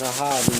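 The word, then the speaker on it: אחאב: you go it's a it's aab in in the Hebrew Ahab is just a English English pronunciation of it and and you know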